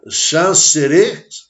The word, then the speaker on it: Xanxerê: Aqui tem um esquema para mostrar para vocês o que aconteceu em Xanxerê, desse jeito, a pronúncia, Xanxerê.